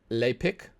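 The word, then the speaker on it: Lepic: started first we have I think that they pronounced this lay pick I mean to me it just says lipic but whatever it's this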